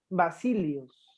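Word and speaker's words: basileus: domina se denominaba la máxima autoridad del imperio vasilios se escribe del mar cine bus basile basile escribe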